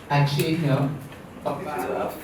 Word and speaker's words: Achenyo Obaro: So I just want to correct my name. You butchered mine as well, but you didn't butcher it. You called me a different name. My name is Achenyo Obaro. I also go by Ache, which is the short form.